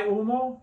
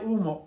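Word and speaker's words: humo: get to that I UMO and I remember H is silent h is silent I UMO UMO technically is smoke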